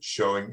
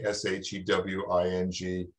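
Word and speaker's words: shewing: I thought that was pronounced she-wing. Well, it may be.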